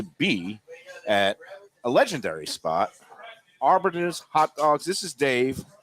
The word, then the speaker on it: Arbetter's: or time to be at a legendary spot Arbiters hot dogs this is Dave David Mike how you doing buddy I always butcher the pronunciation yeah you got it right you